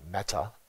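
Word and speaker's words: mettā: In Buddhism, loving kindness, in the Pali pronunciation would be metta, meditation, means it's a method to cultivate friendliness, connection, bringing joy to someone.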